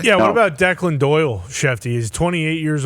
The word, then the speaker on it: Declan: Yeah, I would assume it's Declan, not Dickland.